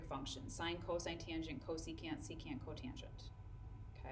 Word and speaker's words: secant: okay on that same note SEC which is pronounced secant is reciprocal with the cosine value so if